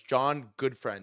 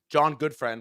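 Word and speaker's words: Gutfreund: who runs Solomon Brothers, John Goodfriend is how it's pronounced, I believe, where it's Black Monday and everything is just getting destroyed.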